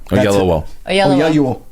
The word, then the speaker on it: Oyelowo: And David Oyelowo. Oyelowo. Oh, that's how you pronounce it in Nigerian.